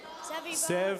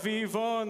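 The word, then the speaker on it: סביבון: Sevon. Sevivon.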